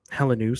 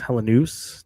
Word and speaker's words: Helenius: So, Helenius, sorry, I keep saying Hellenius. Helenius, to be clear on the way you pronounce his name, likely would be a part of it.